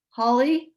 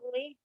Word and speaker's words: Holi: Holy. Holy. Yeah. It's holy. Holy. Happy Holy. Okay. It sounds like holy, like Holy Easter. yeah, I was going to say that. Yeah, holy.